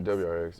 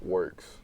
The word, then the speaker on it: WRX: WRX. It's actually Works. That's how it's pronounced.